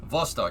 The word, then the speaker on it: Vostok: B makes a V noise, right?